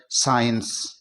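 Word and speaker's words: science: जाता है इसी तरह एस सी आई ई एन सी ई यहां एस के बाद में सी आ रहा है तो हम इस सी को साइलेंट कर देंगे और इसको पढ़ेंगे साइंस इसी तरह सीजर्स और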